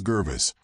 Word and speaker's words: Gervis: His name is Gervis, which rhymes with nervous, and for good reason.